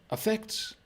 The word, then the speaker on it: affect: Affect and effect. Now, when we say these quickly, affect, they sound exactly the same. So you have a schwa at the beginning, affect.